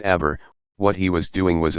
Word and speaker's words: aber: transformation, he indicated that the unstressed E of the second syllable did not offer him the slightest guarantee against the feared appearance of something alien and contradictory, which is why he had decided to accentuate it.